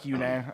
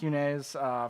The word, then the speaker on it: Yune: His name's actually Rick Yune, actually.